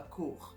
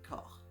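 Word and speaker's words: corps: pas le son o ça fait le son o comme dans corp ok on dit pas cour on dit corp donc ce son là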